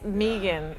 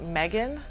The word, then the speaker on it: Megan: pronounce it is like pronounce it with two e's even though there's no two e's so um most of the time people when they first hear it they think megan but um and i'll